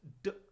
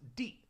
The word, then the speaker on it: 的: And some of you might recognize this character and think it's pronounced d, but in this case it's pronounced di.